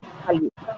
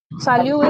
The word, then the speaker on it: salut: So salyu is used among friends and family members. This word salyu. We have already seen the last letter T is silent.